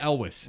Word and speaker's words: Elwes: guy who played Carrie, whatever his name is, Elvis. Is that how I've never known how to say the guy's name. He just got cast in Stranger Things season 3. Oh, really? So it's Carrie Elwes.